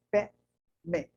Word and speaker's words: Padme: Padme, se pronuncia Pé-me, tá?